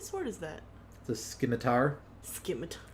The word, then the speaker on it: scimitar: Scimitar. Scimitar is the way you pronounce it.